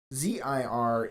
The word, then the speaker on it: zir: ZIR is typically pronounced like here with a Z in front.